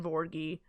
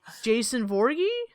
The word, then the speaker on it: Voorhees: that one jason voorhees that that's not the name it's not borgie can you spell that for me no what you're saying no i can't because it's voorhees i've been saying morgan for years there's there's no g i i don't know how